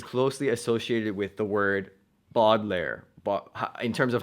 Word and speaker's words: Baudelaire: me thinking about so the reason why I pronounce it boggler rather than Baudelaire is because when I